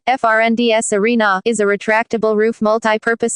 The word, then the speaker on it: Friends Arena: Friends Arena, Swedish pronunciation, FRNDS Arena, is a retractable roof multi-purpose stadium located next to the Lake Råstasjon in Solna, just north of Stockholm City Centre.